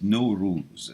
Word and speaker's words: Nowruz: o z no rules some people spell it n o w r o u z all right no rules that's the pronunciation and thank you for